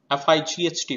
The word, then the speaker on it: fight: F-I-G-H-T, fight, we are not pronouncing G.